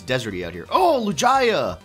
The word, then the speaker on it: Lugia: not to call it lujaya some people prefer lugia i do see the comments but i actually read the pokemon dictionary and it actually is pronounced lujaya just saying so you guys